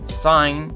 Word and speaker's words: cygne: En francés, sign tiene una pronunciación muy similar al inglés, sign, señal, y como tótem nos habla de una persona con la habilidad de unir realidades y poderes.